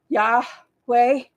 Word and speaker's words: Yahweh: it is yosua and God's name is Yahweh as we say it like when we first breathe in the morning when we get up we go yeah way so that's an interesting